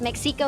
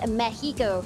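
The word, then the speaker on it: México: the city of Mexico and yes you don't pronounce it as Mexico is Mexico so exactly how you pronounce all the cities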